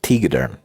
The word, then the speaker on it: Tegaderm: I will pronounce this. That's how I will not. It is Tegaderm.